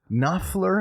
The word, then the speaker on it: Knopfler: Yeah, you you ignore the K. There's a K? There's a K. And an N? Yes. O P F L? Yes. E R. So, there's a lot you have to ignore in there.